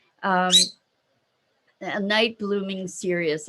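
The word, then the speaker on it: cereus: plant if you've never seen a night blooming serious here she is hey maggie say hi say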